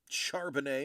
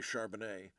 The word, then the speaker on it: Charbonnet: So I was like, ooh, my only other running back of note is Charbonnet or Carbonnet, however you want to pronounce it. I believe it's traditional French way would be Charbonnet.